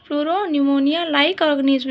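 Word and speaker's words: pneumonia: होता है ना, प्लूरो न्यूमोनिया लाइक ऑर्गेनिज्म, इसमें न्यूमोनिया में जो क्या है ना, पी साइलेंट होता है, ठीक है।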